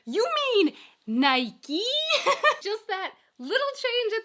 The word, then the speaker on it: Nike: When I first heard Stefan talking about the brand Nike, it just didn't register. I know it's not a big difference. It's not that big of a difference between Nike and Nike.